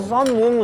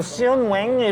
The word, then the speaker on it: Seon Woong: off though And then My name, Seon Woong They just go "seoon wing" or whatever I don’t have to